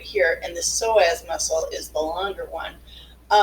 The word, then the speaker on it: psoas: And so this word, the P is silent. It's called iliopsoas, and it's actually made up of two muscles, the psoas major and the iliacus.